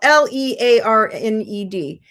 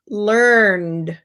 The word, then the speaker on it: learned: learn then you know it's pronounced learned with no extra syllable because we have this